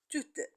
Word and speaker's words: tout: c'est le consenté et généralement on ne prononce pas les consonnes à la fin du mot un autre caractéristique c'est que le mot suivant aussi commence par une consonne alors je ne peux pas faire de liaison et je le prononce tout simplement tout on constate que soit